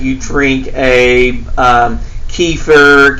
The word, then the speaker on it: kefir: So this would be like you drink a um kefir, kafir, how people like to pronounce it.